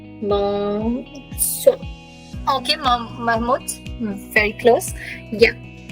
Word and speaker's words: bonsoir: Bonsoir. Bonsoir. Okay, Mahmoud. Very close. Yeah. But again, it's made up of two words. Bon, same like bonjour, bon, soir. R is pronounced. R is pronounced.